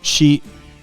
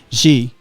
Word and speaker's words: Xi: reading about chinese president she pronounce it let me turn you on there yeah president xi okay she yep okay uh jingping